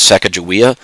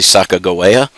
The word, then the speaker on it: Sacagawea: for their guide sacagawea she is mispronounced in history as sekejawea her name was actually sacagawea and lewis and clark